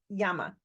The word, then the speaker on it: llama: In Spanish, you have the double L is a ya sound, so llama.